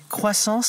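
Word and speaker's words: Xsens: Explique, parce que ça s'écrit X sens, mais c'est croissance.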